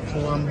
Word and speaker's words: Plumb: what we're just verifying is plum with a bee Plum you pronounce it Plum PL PL Plum I thought it was